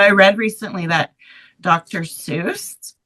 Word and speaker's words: Seuss: Seuss, his name is actually pronounced Soy.